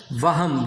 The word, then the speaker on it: وہم: عام طور پہ اسے کیا پڑھتے ہیں وہم. یہ وہم نہیں ہے، یہ لفظ ہے وہم.